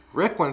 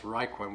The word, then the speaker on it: Rickwin: Rickwin says, it is Rick Win, but Yes. Shelley pronounces it as Ryquin, which is fine.